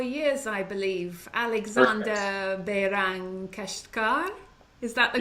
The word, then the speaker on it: Alexander Behrang Keshtkar: Alexander Behrang Keshtkar. Is that the correct pronunciation?